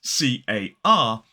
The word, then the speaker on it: car: So, for example, in a word like car, which is C-A-R, as an isolated word, we don't pronounce the R.